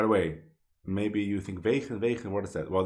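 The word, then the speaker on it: wegen: By the way, maybe you think vegan, what is that? Well, that's the Dutch pronunciation because he's Dutch. But maybe you would say vegan or vegan, right?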